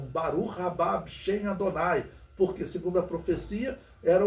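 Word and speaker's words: בָּרוּךְ הַבָּא בְּשֵׁם אֲדֹנָי: viriam né essa expressão em hebraico ele sempre pronunciavam barulho bichen Adonai porque segundo a profecia era o que eles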